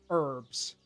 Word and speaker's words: herbs: keep calling it herbs I call it herbs the H is silent there's some chamomile that's